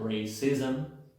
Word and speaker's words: racism: La 54 ISM se pronuncia ism. Si se dan cuenta, aunque no tengo una schwa, se mete la schwa. Siempre le llamo el sonido metiche porque se anda metiendo en varias palabras. En este caso se metió antes de la M.